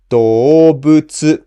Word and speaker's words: 動物: So you pronounce the first mora lower and the rest in flat middle pitch like this. 動物, 動物.